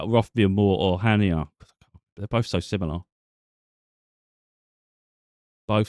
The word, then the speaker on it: Chania: Let me see if I can get the Hania one. I say Hania because it's spelled Chania, but if you're actually over there, they just keep saying Hania.